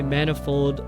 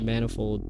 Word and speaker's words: manifold: you dear a penny you say manifold like many I said manifold which is wrong say rapier pier tier